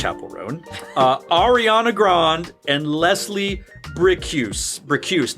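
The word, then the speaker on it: Chappell Roan: It's Chapel Roan.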